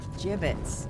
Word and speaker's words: gibbets: Gibbets. What? It's pronounced gibbets.